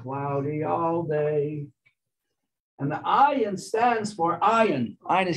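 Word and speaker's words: עין: So the word ayin, actually the letter is pronounced ayin, which means an eye.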